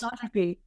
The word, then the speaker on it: anisotropy: a word so let's see if I can pronounce it correctly you study anisotropy is that close anisotropy oh yeah yeah that is uh how M